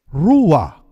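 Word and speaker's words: רוח: Yung palang salitang spirit sa wikang Ebreo, ang salitang gamit ay ruah. Ruah. Kung inyo pong ipopronounce ang salitang ruah, mapapansin po ninyo na kailangang huminga ka bago mo ma-pronounce ang salitang ruah.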